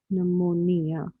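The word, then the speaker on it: pneumonia: तो ये treat for the treatment of PNEU, नमोनिया। ठीक है। सो नमोनिया, देखिए नमोनिया के स्पेलिंग पी से स्टार्ट होती है, आपको पता होना चाहिए।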